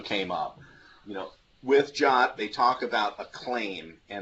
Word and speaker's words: JWT: So JWT is pronounced JOT.